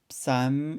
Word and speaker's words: Psalm: 노인우 낼 라고 합니다 이 시편 발음이 조금 어려울 수 있는데 원래 패가 조금 묵음 형식으로 나면서 쌈 이렇게 나와요 삼각비 테 혼도 on